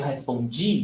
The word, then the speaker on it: respondi: And the other one, eu respondi, the stress is on G.